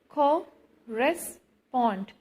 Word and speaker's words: correspond: Correspond, so stress is on third syllable. Pond.